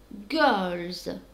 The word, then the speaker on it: girls: اوكي girls كيفاش على بالنا بلي نطقوها زاد لانه في الدرس تاعنا قلنا انه final اس يتنطق زاد بعد مجموعة من الحروف كيما الال الار الان and so on.